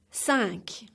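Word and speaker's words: cinq: first syllable cut cut sank sounds like your English word sank ok.thank sack sees cheese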